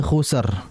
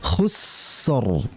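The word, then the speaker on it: خُسْر: Jangan dibaca innal insana lafi khusr. Tidak. Tapi ditahan aliran. Khus tahan dulu, khusr.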